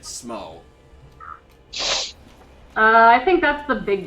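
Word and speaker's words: Smough: and smo no smo there's kind of a debate as to how it's pronounced but most people agree that smo i think that's the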